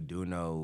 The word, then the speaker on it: Döuno: I am joined by duno right duno that's how you say it yeah Doo wrong do